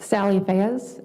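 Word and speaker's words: Sally Fayez: Can you please uh say your name and spell it for the court reporter? Sure. Sally Fezy.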